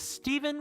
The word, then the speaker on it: Stephen: It's not with a V. It's not Stefan with an F. It is Steven with a PH. It's said exactly like a V.